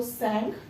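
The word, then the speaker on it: Tsangpo: के अंदर सेल को टी साइलेंट है बेटा तो सॉन्ग तो वहां पे इसको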